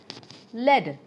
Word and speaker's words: lead: a life of virtue lead it's a noun but it is pronounced similar a type of metal